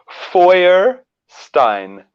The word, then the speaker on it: Feuerstein: Okay, goes like this: Feuerstein.